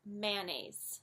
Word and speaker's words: mayonnaise: it short its Mayo it's not my own ace it's mayonnaise mayonnaise one that's also commonly